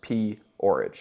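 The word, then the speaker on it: P-Orridge: They were a performance art group in the UK formed by somebody named Genesis P. Orridge, like porridge.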